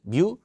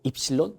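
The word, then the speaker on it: epsilon: 이꼴로는 자, 진공 또는 공기 중에 유전율은 뮤 아니고 입실론 0라고 하죠. 요건 뮤라고 읽으면 안 돼. 여러분 얘가 뮤예요. 알겠죠? 이건 입실론이에요. 실론 제분의 전하량 q화량이 많으면 많을수록 얘가 뿜어내는 전기력선의 수는 예 많아진다더라.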